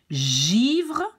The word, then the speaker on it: givre: And how do we pronounce this G? Well, we pronounce it like J, like treasure, J, treasure, gentil, givre, and mange.